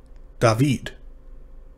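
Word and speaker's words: דָּוִד: a stressed syllable so in david the stressed syllable is ved and that's the one that's stressed and so that makes it long even though it's a closed syllable david uh and i just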